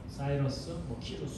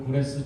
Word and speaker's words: 고레스: 왕국을 세운 왕의 이름은 후레스 고레스입니다 사이러스 다양하게 발음하는데 고레스입니다 그리고 이제 모레스가 왕이 되자마자 명령을 내리거든요 그 글을 고레스 줘서 또는 고레스 칙령이라고